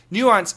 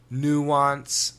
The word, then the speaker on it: nuance: Nuance, spelling Nuance. And we have a couple of pronunciations in America, nuance, nuance, and nuance, nuance. Now, actually, this word comes from France, so it's a French word.